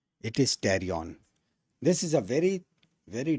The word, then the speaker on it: pterion: Whenever there is any of the fight, this area is called as the pterion. Right? Not pterion. Right? P is silent. It is pterion.